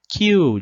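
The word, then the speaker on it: きゅう: Kyu, Então, aqui a gente tem esse yu que é pequenininho, e ele vai prolongar, Então, a gente não vai falar kyu, A gente vai falar kyu de uma única vez.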